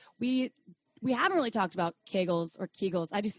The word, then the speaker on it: Kegel: It's pronounced Kegel.